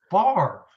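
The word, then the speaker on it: Favre: but it is man his name was always just it's far but it's it's spelled family favorite it's fabric but it's far you know it's they're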